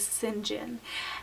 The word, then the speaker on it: St. John: different and that is sin jinn and this is a variation of the name st. John st. John can be pronounced Sinjin and this is the phonetic spelling and I came across